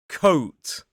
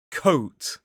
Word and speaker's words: coat: The difference here is a kind of short O vowel sound and a longer gliding O sound where it moves from the middle of the mouth more up O.